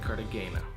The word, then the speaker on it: Cartagena: And remember, in Spanish, G's are pronounced like H's, so it looks like Cartagena.